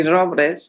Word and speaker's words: Robles: is Robles it's actually Robles but most people can't pronounce it that way but um I am